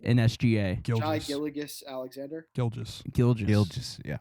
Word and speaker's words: Gilgeous: Gilgeous. Yeah. Is it Gilgeous? Dude, that's a perfect. Have you been saying Gilligus this whole time?